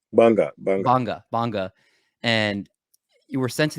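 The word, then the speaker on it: Gbarnga: where you were born in, I believe it's pronounced Banga, correct? Banga.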